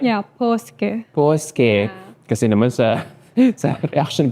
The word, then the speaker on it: Paaske: Yeah, Paaske. Paaske. Kasi naman sa reaction video ko, Mary Josephine Paaske. So, ang dami nag-comment sa akin ng mga followers ko na I mispronounced your surname. So, it's Paaske.